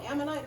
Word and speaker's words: ammonite: And a few months later, she sends it to me, and she had found, I don't know how to pronounce it, ammonite? Is that- Oh, ammonite, the nautilus?